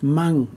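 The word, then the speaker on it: măng: ah sound longer but with mang we move quickly to the ng sound you hear i'm i'm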